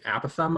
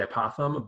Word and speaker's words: apothem: we say radius right the apothem which you might also hear referred to as an app of thumb I'm gonna say apothem but both pronunciations are you know generally accepted but the apothem is